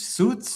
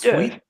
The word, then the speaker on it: suite: How do you say that word in English? Suits. Sweet. Sweet. Sweet. You got it.